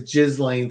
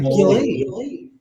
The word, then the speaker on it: Ghislaine: And once I saw that, it's like, well, now it's easy to remember how to pronounce her name, comma, law. Yes. Duh. Just like Ghislaine.